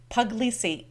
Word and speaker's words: Puglisi: Today I'm excited to have with us Becca Puglisi. Becca, is that how you say your name? That's it.